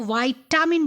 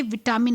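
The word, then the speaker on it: vitamin: पर आपको बताना चाहूँगी, विटामिन को वाइटामिन बोलना चाहिए, विटामिन नहीं बोलना चाहिए। उसका असली प्रोनाउंसिएशन है वाइटामिन, ठीक है। हिंदी में हम लोग लिखते हैं विटामिन, इसलिए हम लोग विटामिन बोलते हैं, लेकिन इंग्लिश में अगर हम लोग उसका प्रोनाउंसिएशन करते हैं तो वाइटामिन होना चाहिए, ठीक है।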